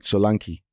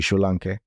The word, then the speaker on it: Solanke: But the commentators in England call it Solanke. Yeah. Because it's spelled Solanke. Yeah. But I don't think it's an English name. I think it's a Yoruba name. It should be Solanke.